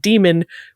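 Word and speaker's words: daemon: always pronounced it Damon everyone else in the world seems to pronounce it demon we always thought that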